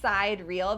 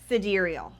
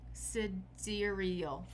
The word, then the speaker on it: sidereal: I've been saying sidereal because that's how it's sort of spelled out. Sidereal. But it's actually pronounced cidurial. Cidural.